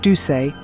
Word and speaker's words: Duse: her unique acting style her surname pronounced duay might have mingled with